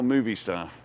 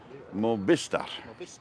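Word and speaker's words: Movistar: Now, how do you pronounce that? Mobistar or movie star? Mobistar. Mobistar. Vista being as a view.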